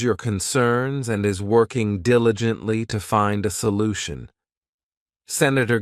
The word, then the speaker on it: diligently: Next, we have diligently. This adverb has 4 syllables, and the stress is on that first syllable, diligently.